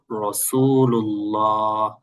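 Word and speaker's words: رسول الله: লা ইলাহা ইল্লাল্লাহু মুহাম্মাদুর রাসুলুল্লাহ।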